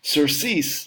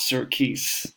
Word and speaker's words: surcease: pronounce it for you sir cease hmm surcease not circus surcease surcease surcease alright so